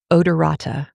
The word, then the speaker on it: odorata: I am going to try and pronounce it because it's kind of funny. Dipteryx, Dipteryx. And then the second part, odorata, Odorata.